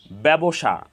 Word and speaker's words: ব্যবসা: এখানে একারান্ত উচ্চারণ হয়েছে সহজভাবে বলতে গেলে যদি শব্দের প্রথম বর্ণের সাথে জ ফলা সংযুক্ত থাকে তাহলে সেই বর্ণের উচ্চারণে সামান্য শ্বাসাঘাত পড়ে এবং একারন্ত উচ্চারণ হয়ে থাকে অ্যা একারন্ত উচ্চারণ হয়ে